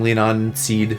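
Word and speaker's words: Leanan Sidhe: I wanted to fuse lean I've been saying it wrong. Lean on seed probably is how you say it into something.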